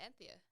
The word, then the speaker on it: Antheia: It's from the other Greek god who's like obviously less known, and it's spelled like Antheia. So it's like my name but with an I. Was that pronounced Anthea? No, it's just pronounced Anthea.